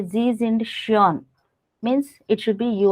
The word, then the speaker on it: schön: Pronunciation should be. Sure. Shon.